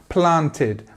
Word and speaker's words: planted: Now, this comes usually after a T or a D. So like here we have the examples. I'm going to go through these and just highlight them at the end. We have planted. So I planted a tree. And you can see that we have this T at the end.